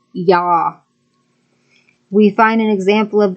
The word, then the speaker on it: Yah: The first 2 vowel letters are Yod-He, and according to Strong's Concordance number H3050, it is pronounced as Yah.